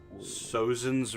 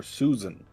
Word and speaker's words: Sozin: Sozin's rise in Wu. Sozin or Susan? Sozin. How do you spell that?